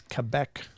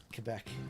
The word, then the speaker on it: Quebec: It's Quebec. Quebec. Got to pronounce it Quebec.